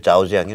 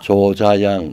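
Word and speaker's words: 자오쯔양: 우리 시청자님들 자오지양이 누군지 몰라. 조자양 우리 발음으로.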